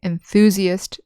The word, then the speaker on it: enthusiast: So in the noun forms, we say enthusiast, enthusiasm, with the accent on the second syllable.